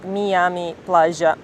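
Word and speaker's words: Miami Platja: as well, which is in Catalan it's actually called Miami Playa, or let's pronounce it right, Miami Playa, more or less.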